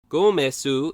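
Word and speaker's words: ゴメス: Gomesu is how the name is pronounced in Japanese, and in English-speaking areas, its name is usually written either Gomess or Gomez.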